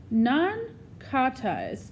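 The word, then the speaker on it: nankhatai: called again nan Coty's I says I say nan Coty's she says so slowly her pronunciation is perfect I think about what miss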